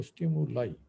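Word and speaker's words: stimuli: সুতরাং ওই যে স্টিমুলাই, ওটার উচ্চারণ হলো স্টিমুলাই, ঠিক আছে?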